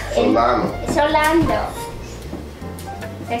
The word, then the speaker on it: Solano: Justin Baldino, TV actor, he was Rafael Solando. Solano.